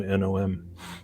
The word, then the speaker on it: gnome: used to be gnome or gnome as we pronounce it in his earlier drafts, and now it's just gnome, Nom, or Nomen, the wise.